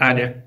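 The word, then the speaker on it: a11y: Читается как ALI.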